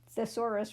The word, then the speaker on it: thesaurus: Thesaurus rhymes with dinosaurus. That helps me to pronounce it well.